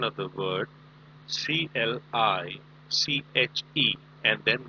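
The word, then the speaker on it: cliché: Please mark the pronunciation of the word CLICHE, and then there is an accent on top of E.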